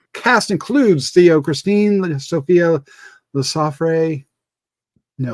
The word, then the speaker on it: Lesaffre: The cast includes Théo, Christine, Sofia, Lesaffre. No. Lesaffre, yeah.